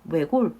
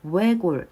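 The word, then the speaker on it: 외곬: 외골 같은 경우에는 발음을 두 가지로 할 수 있어요. 일단 외라고 했을 때이 외 부분 있죠?이 이 부분은 단모음이라서 외골 이렇게 단무음으로 발음할 수도 있고요. 이중 모음으로 발음하는 것도 허용을 합니다. 그래서 우에 우에 외골 이렇게 외골 이렇게 발음하는 것도 허용이 된다는 거 같이 살펴보시면 되겠습니다.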